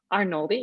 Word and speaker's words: Arnoldi: Arnoldi, yes.